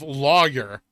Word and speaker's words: lawyer: instead of lawyer. That drives me fucking nuts. I'm guilty of this. Liars is an acceptable substitute. I say lawyer and never knew it. I said lawyer. Law-yer. It's 2 syllables.